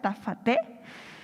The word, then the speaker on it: Jta Fatee: Ella es, se pronuncia Tafate, conocida por su nombre artístico.